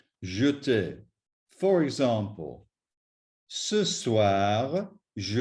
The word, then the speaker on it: jeter: Please note that little E must be pronounced as an E, otherwise it will sound incorrect and possibly not even understood. So, appeler, regarder, jeter.